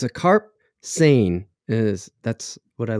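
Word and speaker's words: seine: what are you saying carp sane like essay insane sane yeah but you spell it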